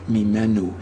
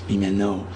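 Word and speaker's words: ממנו: is it from him don't make the mistake of changing the word mimu into the error which I don't even like to pronounce mimo G that's not a Hebrew word It's Made Up by people who didn't really understand that the word is mimu and it happens to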